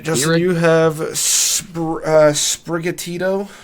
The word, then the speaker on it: Sprigatito: All right, Justin, you have Sprigatito? Sprigato? Sprigatito.